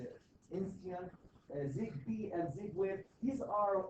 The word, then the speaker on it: Insteon: Insteon, ZigBee, and Z-Wave.